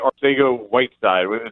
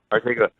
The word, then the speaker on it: Arcega-Whiteside: Arcega-Whiteside. Did I pronounce his name right? Yep, nailed it. Arcega.